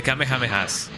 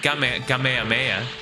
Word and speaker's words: Kamehameha: The Kamehamehas. So, people say Kame Kamehameha and I don't like that. I I just say Kamehameha because you know that's how we used to pronounce it in in in here.